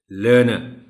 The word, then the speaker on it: learner: five five learner Palace tell them that this R is silent and the correct pronunciation of the word is learner learner excelled you except